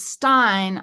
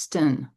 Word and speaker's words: styn: Well, see, that's why I thought it was Stein. I just thought it was I thought it was Norwegian and it was like the German Stein. No, but it's pronounced sten in Dutch.